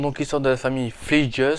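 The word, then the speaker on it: Fleeges: Ce film raconte donc l'histoire de la famille Fleegeus, ça se prononce comme ça, parce que c'est pas évident à prononcer, c'est F-L-E-E-G-E-S.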